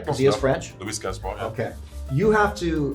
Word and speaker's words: Louis Gaspar: Get the pronunciation right? Because he is French. Louis Gaspar, yeah.